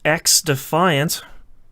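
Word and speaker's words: XDefiant: Ubisoft announces X Defiant.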